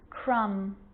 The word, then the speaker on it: crumb: with the letter b it's always silent when it follows the letter m climb crumb lamb thumb dumb and plummer so practice them with me i'm not pronouncing the b i'm just pronouncing the m consonant sound climb crumb lamb